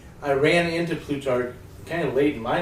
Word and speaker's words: Plutarch: just making it for June and it is plutar did I pronounce that right everybody yes yes tar and